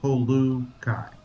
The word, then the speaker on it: Polu Kai: He is the founder of, is this Polu Kai? Is that how you pronounce it? Polu Kai Services? Polu, like, substitute the O with the U, Polu Kai.